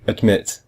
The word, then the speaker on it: admit: we don't say admit can you hear it is the second it's the MIT mmm the first syllable is add and the second one is MIT but we hear MIT much more MIT is stronger than add so we say admit it's the same with